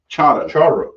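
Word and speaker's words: charro: Charo. Charo. Yeah, it's spelled charo, but Yeah. those two R's is going to be pronounced charo.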